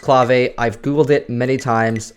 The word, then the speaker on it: clave: Progressive and Progressive house and yes it is pronounced clave I've Googled it many times I swear if